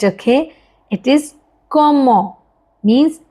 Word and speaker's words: comment: It's not comment, okay? It is comment.